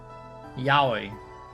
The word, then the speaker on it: Aoi: Aoi? Aoi? The Aoi system? Aoi? Okay. Yaoi. Yowie without the Y.